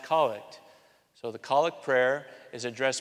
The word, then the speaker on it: Collect: c the collect prayer it's spelled collect but it's pronounced colic so theic prayer is